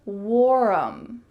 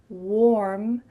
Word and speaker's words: warm: Instead, the word warm has just one syllable, not warm. Instead, warm, warm. Notice how my lips are in an O shape. Warm, warm, with a clear R.